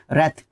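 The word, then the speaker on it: wrath: रेथ डब्ल्यू के बाद जब भी आर आएगा आपका बहुत बार बता चुका हूं आपका डब्ल्यू साइलेंट रहेगा। रेथ नाउन के रूप में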